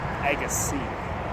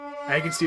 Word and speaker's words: Agassiz: aases it's it's pronounced Agy yep I've totally walked down the roads of aasai good sturgeon fish in near ogus is it's pronounced EG C The Zed is silent n man The Zed